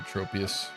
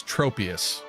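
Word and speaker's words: Tropius: get out of here tropus also the Pokemon's name right this this Pokemon's name I think most people would pronounce this tropus right but it's trop like tropical so is it tropus is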